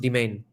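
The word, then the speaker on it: demesne: Yeah, it's pronounced domain.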